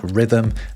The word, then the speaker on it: rhythm: So what's the purpose of the silent H in words like rhythm and where?